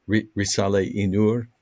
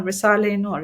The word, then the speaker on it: Risale-i Nur: then you mention, I don't know how to pronounce it, Risale-i Nur. Yes, very good. Yeah, Risale-i Nur.